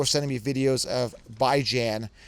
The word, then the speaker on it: Bijan: Actually, I'm fully right because it's Bijan. B-I-J-N. Like Bison, bi-weekly, Jan is ran. But, as in ran. But everyone was pronouncing it wrong. I was right. He even said Bijan is wrong.